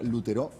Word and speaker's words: Lutereau: Lutereu se escribe Lutereau, perdón, pero se pronuncia Lutero, no me lo olvido más.